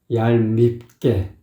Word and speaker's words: 얄밉게: 얄밉게 떠난 니마 할 때 이제 얄 발음을 잘 해줘야 돼요. 그 혀를 한번 굴려줘야 되죠. 밉게도 그 입술을 딱 입술을 딱 말하자면 비벼줘야 돼요. 얄밉게 이렇게 해줘야 뭐 얄미운 느낌이 나거든요.